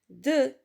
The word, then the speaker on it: deux: d'accord quand par exemple dans le mot de deux ici l'atrix ne se prononcent pas c'est une lettre lui est d'accord